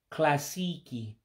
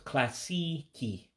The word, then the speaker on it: klasiiki: Klasiiki. For classic. And of course, you have the I's, make the E's, you know how those double I's there, it's basically saying elongated. So it's classiki, classiki for classic.